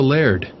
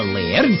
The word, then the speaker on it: laird: think macleod i'm the laird of this castle i'm lucky luke uh what's a laird oh that's how we scoresman pronounce the word lord we don't want to